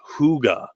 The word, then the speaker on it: hygge: they actually have a word for cozy that's pronounced hygge and that is an actual word that they